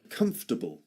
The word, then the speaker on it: comfortable: It seems to it has four syllables in in spelling, but actually it's pronounced in three syllables only.